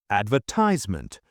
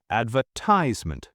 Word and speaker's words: advertisement: Advertisement. British advertisement. Stress on the second syllable.